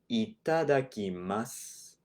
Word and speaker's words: いただきます: It's more of a mas, right? You're just saying the S sound. So this should be pronounced itadakimasu, right?